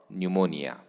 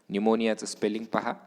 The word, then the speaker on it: pneumonia: is given here and she is suffering from pneumonia pneumonia is silent in eu a pneumonia pneumonia in this